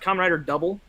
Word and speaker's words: Kamen Rider W: It's pronounced Kamen Rider Double, but it's W.